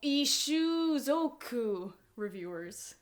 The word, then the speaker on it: Ishuzoku Reviewers: Um it is called Interspecies Review uh reviewers or um How the heck do you pronounce the Japanese name? As I look over to my computer screen. Ishuzoku Reviewers.